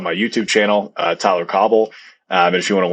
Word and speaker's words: Cauble: more on the course so it's not c-o-b-b-l-e spell it that's right yeah it's yeah it's c-a-u-b-l-e it's a it's a very funny spelling uh and then also